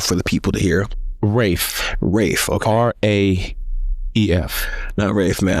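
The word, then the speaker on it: Raef: How you pronounce it one more time? Say it nice and loud for the people to hear. Rafe, okay.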